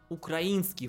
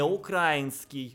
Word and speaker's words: украинский: Так вот, кроме таких слов, как неонацисты и Бандера, неплохо бы еще слово «украинский» выучить. «Украинский». Не украинский. И это не политический вопрос. В словарях русского языка только такой вариант считается правильным.